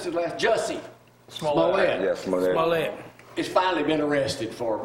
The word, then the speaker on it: Smollett: Jesse, how you pronounce his last? Jussie Smollett. Yes, Smollett.